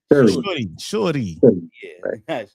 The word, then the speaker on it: Shuri: Shuri.